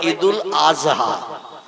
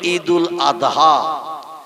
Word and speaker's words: ঈদুল আযহা: হয় কিন্তু ওরা বলে ঈদুল আজহা কি বলে মানে জয় অক্ষর উচ্চারণের মত আওয়াজ করে বলে আমরা বলি ঈদুল আযহা কোরবানির ঈদ জোরে বলি